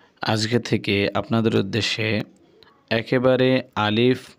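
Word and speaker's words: ألف: আরবি হরফ আলিফ যখন আপনি উচ্চারণ করবেন তখন দুটি জিনিস খেয়াল রাখতে হবে। এক হরফটি কোনভাবেই টানা যাবে না। দ্বিতীয়, হরফের শেষে মানে উচ্চারণের শেষে কখনোই দোনো ঠোঁট এক করা যাবে না।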